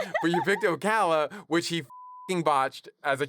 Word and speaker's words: Ocala: from Florida and then he mispronounces Okala, Florida as Oakla. He's like, he's like, I was just a poor kid from Oakla, Florida.